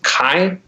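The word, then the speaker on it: חי: So it's Kai. That's how it's pronounced, I believe, and it's spelled like chai.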